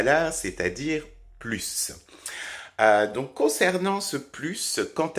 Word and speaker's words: plus: vous pouvez le voir il y a également un autre cas où on prononce plus c'est-à-dire si il est aussi à la fin d'une phrase donc vous avez ces deux